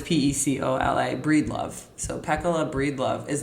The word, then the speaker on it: Pecola: main character in this book, whose name is Pecola. I should have looked that up before we started recording. In my head, as I'm reading it, I have been pronouncing it Pecola. Okay. But it's Pecola, Breedlove.